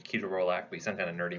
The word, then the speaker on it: ketorolac: use now toradol or ketorolac ketorolac a lot of people say I think the actual proper pronunciation is ketorolac we sent kind of